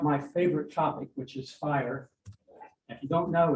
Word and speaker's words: FHIR: to say about fire it's pronounced fire I am CTO of